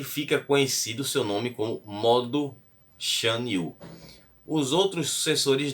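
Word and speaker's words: Modu: Mas dizem que o Modo, que se escreve aí com M, com U no final, né? M-O-D-U, ele teria mandado eliminar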